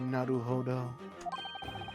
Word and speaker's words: Naruhodo: Naruhodo. Hey, he finally said it right. I've been saying it right the whole time.